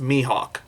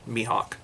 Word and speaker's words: Mihawk: my mihawk gave him i've been told that me it is pronounced mihawk so i'm going to i'm going to pronounce it mihawk so yeah he's still